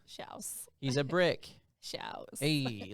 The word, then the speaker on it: Schalch: every time, but that my last name is Shouse, not Schlack or Shaylock or Schalk. It's Shouse, rhymes with house. Shouse.